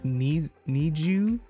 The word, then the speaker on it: NiziU: today i'm reacting to i'm pretty sure you pronounce it need you need you because it's like need you like need and you they're from jyp entertainment